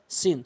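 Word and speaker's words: سين: থেকে উচ্চারণ সদ সিন সদ সিন একটু পার্থক্য শিখবেন সদ সিন সদটা একটু পুর সিনটা একটু বারিক হামজা আইন এই দুটি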